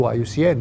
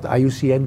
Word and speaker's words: IUCN: experts that contribute to iucn this is the right way to say it it is not iucm that is here it